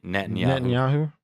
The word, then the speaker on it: Netanyahu: nyaho whatever how do you say his name Netanyahu Netanyahu they went to him and they basically said